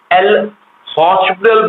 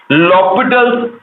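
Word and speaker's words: L'Hôpital: लॉपिटल्स rule, जिसको कि बहुत लोग एल हॉस्पिटल बोलते हैं, जो कि रॉन्ग प्रोनाउंसिएशन है। करेक्ट प्रोनाउंसिएशन इज, उसमें एच साइलेंट होता है। तो करेक्ट प्रोनाउंसिएशन इज लॉपिटल्स रूल, और उसके हिसाब से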